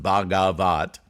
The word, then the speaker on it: Bhagavat: website um it's uh it's a noun pronounced bagavat um and this is